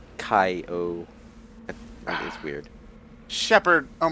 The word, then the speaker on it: Kyogre: It was like, I think I might have said like Kyogre or okay, Shepherd. Well, it spells like it starts with Kyo, but it's actually Kai-O.